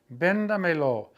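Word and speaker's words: Véndamelo: You have to go 4 back and put the accent mark on the E of benda because we must maintain the integrity of the original stress vowel of the command before you add any object pronouns to it.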